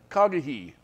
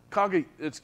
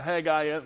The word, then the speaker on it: Haggai: KAG yeah you see the the H sound the H in Hebrew always it has a a CH sound a k sound really KAG it's it's kagi that's how you say it that was his